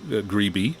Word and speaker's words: Grebe: western electric carbon microphone alfred gree greeby i should say with the vhf transmitter